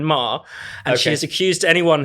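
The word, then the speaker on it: Maher: kind of self-awareness there I have to P you up actually on the on the pronunciation because she's very she she's Catherine Mah and she has accused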